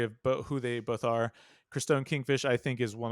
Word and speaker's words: Christone: First matchup is correct me if I'm pronouncing this wrong. Christone? Yeah, Christone.